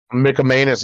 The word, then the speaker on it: McManus: he picks up Brandon McManus the Jacksonville kicker now and I we enjoyed him in Denver I'll say that much almost bought his jersey gross and it's pronounced Mickey Manus and you have the